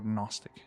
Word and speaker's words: Gnostic: Gnostic or Gnostic. Not G. We don't pronounce G there.